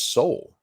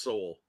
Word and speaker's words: Sowell: So I don't even know how you're supposed to pronounce it because I've been watching the internet and it's pronounced like 90 different ways. I think it's pronounced Soul. So that's how I've Soul Brothers. Yeah, that's how I've always heard it.